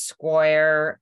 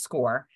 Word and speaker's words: Scoir: to tell them um score and people have pronounced it as square or we don't even know but it's pronounced score so here's the history of score for you